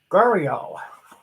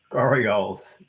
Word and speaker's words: gharial: Make sure I pronounce it right. Whoops. Yes, Gharial.